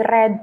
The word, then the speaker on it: read: Jadi ada beberapa aturan tertentu dalam bahasa Inggris kayak misalnya read itu jadi tetap sama jadi red ya verb 3-nya cuman cara bacanya aja yang dibeda.